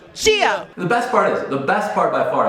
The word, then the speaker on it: Gia: Gia. Really say the J. Gia, like Chia Pet with a G.